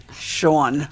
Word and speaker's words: Sean: this beautiful woman named Sean was emailing me, and I'm like, that's a boy's name. Don't ever say that. My mother told me it rhymes with Dawn. Dawn.